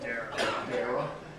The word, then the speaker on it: Dara: So then I sent her an email, and then sent Daria or Dyra, whatever her name is. How do you pronounce it? Dara.